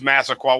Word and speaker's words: Massaquoi: say it right blah yeah I know it's Massaquoi what's his first name Muhammad Muhammed so let